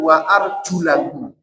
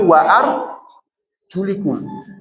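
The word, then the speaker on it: وَأَرْجُلَكُمْ: Dalam hal ini, alasannya tadi sudah saya jelaskan orang Syiah itu bacanya bukan wa arjulakum, tapi wa ar julikum. Wa arjulikum. Kalau warjulikum ikutnya ke ke mengusap ee seatu dalam hal ini.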